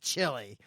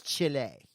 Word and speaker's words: Chile: Go whitewater rafting on the Foodaloo-foo River in Chile. That's Chile. Whatever. You eat chili. It's Chile.